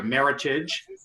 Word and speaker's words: Meritage: vineyards uh great wine this is their meritage which rhymes with heritage it's a virginia blend